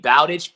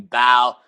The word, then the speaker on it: Bowditch: I mean Bowditch, but growing up, it was like, people would call me Bo, they call me Bow, Bout it.